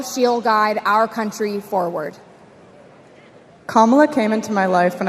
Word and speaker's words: Kamala: Kamala. All right, so let's practice. Everybody over here say comma. Everybody over here say la.